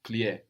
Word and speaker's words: plier: It loses this k sound we get in pliquer. So to fold is just plier, plier.